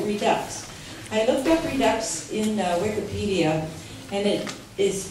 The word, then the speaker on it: Redux: I looked up Redux in Wikipedia, and it is pronounced that way, rhyming with deluxe, but it means to bring back, to revisit.